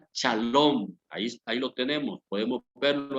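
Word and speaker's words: שלום: Esta palabra paz, amados hermanos, en el hebreo se pronuncia shalom.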